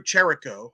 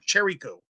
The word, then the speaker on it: Trylko: All right, Trace, you were there all spring, you and Andrew Trylko, who I'm just going to call him Andrew Trylko because I like it. It rhymes with Mike.